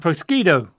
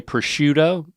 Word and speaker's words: prosciutto: taco okay I like taquitos you know and prosquito you could put a little prosquito on your Taquito yeah yeah yeah proscuino I'll take a persquito taquito por favor look at that now uh I would say prosciutto oh okay but again you shouldn't no matter